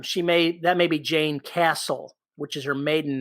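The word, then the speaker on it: Jayne: there's an author named i think it's pronounced jane ann krentz j-a-y-n-e and she her stuff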